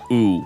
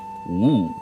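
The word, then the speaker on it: 吳: Like, the W in the way that you're supposed to pronounce it is not as harsh, and so like a lot of people when they hear it, they might think that it's ooh, but it's like woo.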